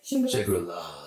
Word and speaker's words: Shangri-Las: Shangri-Las, is that how you say it? Shangri-Las.